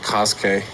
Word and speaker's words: Kosuke: I just realized his name is pronounced Kosuke.